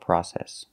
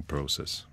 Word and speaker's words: process: can be a difficult process so remember the British pronunciation is process in England they say process a long process and in America we don't we say process that will be a